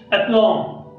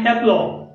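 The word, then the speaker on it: aplomb: त्याच्यानंतर बघा की अप्लॉम, प्रोनाउन्शिएशन आहे अप्लॉम, अप्लॉम म्हणजे आत्मविश्वास.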